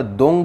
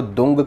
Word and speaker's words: दूं: ध्यान से सुनना ओम दंग दुर्गाय नमः इसमें जो दंग का उच्चारण किया गया है वह दुम नहीं है यह है दंग यानी कि अंगा अंगा का साउंड आपको बोलना है ओम दंग दुर्गाय नमः